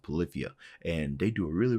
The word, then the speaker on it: Polyphia: At first I was saying Polyphia, but I believe their name is pronounced Polyphia.